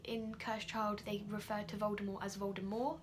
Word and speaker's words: Voldemort: child they refer to Voldemort as well d'amour they pronounced it without the team which is how Joe intended it to be read initially because the team was silent but I actually really